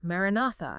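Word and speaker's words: maranatha: And then, silently, internally, you repeat a word marinatha as four distinct equal syllables.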